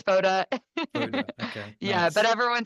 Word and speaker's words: Fotta: Lauren what's your oh everyone calls me f foda f but that's actually not how you say it I just let it happen because it sounds better when you guys say it it's foda okay yeah but everyone